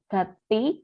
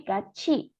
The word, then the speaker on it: 같이: 주말에 pada akhir pekan atau weekend 친구하고 dengan teman, haku dengan 친구 teman, 같이 ini tiet ketemu huruf i, bacanya c ya, ch ya 여러분. Bukan gati, bukan ti, t, tapi 같이 bersama.